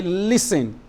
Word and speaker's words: listen: don't say listing because the T is silent you say listen you pronounce you don't